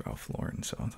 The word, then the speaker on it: Ralph Lauren: them Polo Ralph Lauren you ever hear people pronounce it Ralph laen I did for a while yeah it's just kind of the pretentious people we listen to him actually say his own name he says Ralph Lauren so I was like okay I'm gonna I'm